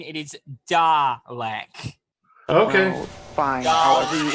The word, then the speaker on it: Dalek: Again, I must correct you on the pronunciation. It is Dalek.